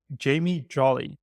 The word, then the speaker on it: Jamie Jolly: and we have our guest, Jamie Jolly. Did I pronounce it all right?